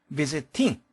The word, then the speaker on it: visiting: visiting 그렇게 발음되기보다는 t가 d 혹은 l로 발음되는 경우가 많다 그랬죠?